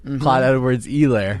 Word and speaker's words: Clyde Edwards-Helaire: that I one looked day it up you right have before to confirm the We're not going to pronunciation. have another hilarious incident. Clyde Edwards-Helaire.